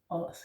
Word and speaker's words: Ods: Os, hell, yeah. It's also with an open O, so it's os, yeah. Almost like O, but it's not. It's just very open O, opened O, yeah.